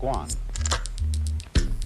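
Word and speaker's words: 觀: eggs on it the whole character is pronounced Guan and it means a certain kind of observation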